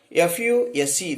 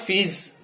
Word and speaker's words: fuse: Likewise, fuse, F-U-S-E, this is the correct, but we pronounce it as a fuse, or in some other way we are pronouncing. When there is no power supply, sometimes we are saying there must be something wrong with the fuse, but not fees.